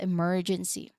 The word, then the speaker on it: emergency: Now here remember to stress pronunciation wise remember to stress that second syllable m. So that's where that's where the syllable stress will be happening. So emergency m emergency you make it the loudest part of the word because it is stressed. It is emphasized.